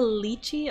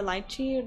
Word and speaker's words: lychee: The lychee or lychee, depending on how you say it, durian, lemon, mango, bananas, coconuts, persimmons.